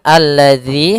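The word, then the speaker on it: الذي: Kemudian alladzi hati-hati dalam pelafalan zal di sini ada huruf dalal bukan huruf zai ya. Kebanyakan kita kadang-kadang membaca huruf dal dengan huruf zai misalkan alladzi.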